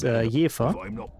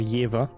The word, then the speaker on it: Jever: Like, there's a beer that's literally from the place I'm born, which is Jever. Or Jever for the beer. I don't know why you pronounce it different, don't fucking ask me, it's weird, but...